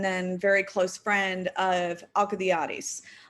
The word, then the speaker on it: Alcibiades: Socrates had been the lover and then very close friend of Alcibiades. Alcibiades, if you use a more Latinized pronunciation, I think you say it Alcibiades.